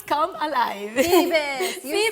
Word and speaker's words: Phoebus: And this is historic series of the, let me see if I can say it right, Phoebus Come Alive. Phoebus, you said it right.